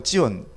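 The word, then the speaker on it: ציון: 히브리어 발음으로 찌온.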